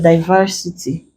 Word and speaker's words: diversity: Here we are going to place it on the anti-penultimate syllable. You can check back on the generalizations to clarify. So that will give us the last, the penultimate, and the anti-penultimate. So diversity becomes our answer with the correct stress placement.